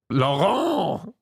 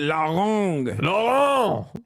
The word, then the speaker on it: Laurent: Laurent. Yeah, you went Larong.